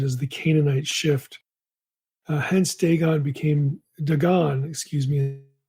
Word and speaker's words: Dagon: On the form Dagon or Dagon, like some other languages in the Semitic tree, long A eventually became long O in pronunciation.